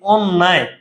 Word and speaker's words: অন্যায়: অন্য স্থানে যদি জফলা থাকে তখন ওই বর্ণটা দুইবার হবে। যেমন ভাই এই অন্যায়, এই যে ভাইয়া দন্তান্নের